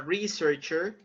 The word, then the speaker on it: researcher: So where do you have the stress? First, second, or third? The first. Okay, on the first syllable.